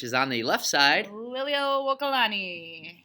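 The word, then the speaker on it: Liliʻuokalani: looks at you while you do it, is pronounce the Queen of Hawaii's name. Which is on the left side. Liliuokalani. Say it one more time. Liliuokalani.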